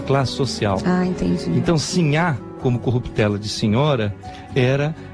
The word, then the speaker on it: Sinhá: é e ela seria e Cinha com o assento na primeira sílaba é a mulher eh pobre a mulher do po do Povo né então esta é simha Vitória o que já